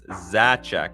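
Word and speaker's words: Zaczek: Just curious, how do you pronounce Z-A-C-Z-E-K? It's Zacek. It's pronounced Zacek.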